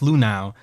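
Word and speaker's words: Luhnow: do you say the name Lou now Jeff Lou now who originally Jeff who originally worked for the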